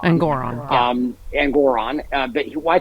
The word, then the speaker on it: Engoron: uh at sorry I I always mispronounce his name it's actually engoron engoron um and Goron but